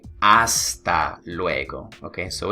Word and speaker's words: hasta: it yeah all right the letter H is silent in espanol all right the letter